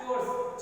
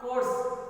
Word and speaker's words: chores: It is pronounced as chores, cha. It is not course, ka sound not comes.